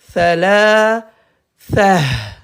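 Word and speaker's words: ثلاثة: Donc, à l'arrêt, ta se prononce ha. Donc, on va dire thala, tha, Hawaï, c'est bon, ouais.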